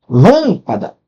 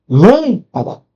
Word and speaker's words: lâmpada: A sílaba tônica nas propoxítonas ela fica onde? na penúltimo. Show. A tonicidade tá na último penúltimo, por exemplo, ó. Lâmpada. Lâmpada. Reparou?